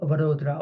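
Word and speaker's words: Vadodara: state between Ahmedabad andat called vodra or Baroda as the British were pronouncing it and so that but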